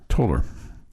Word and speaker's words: Tolar: I've already learned how to pronounce Tolar. It's like polar. Polar. Toller. Like polar.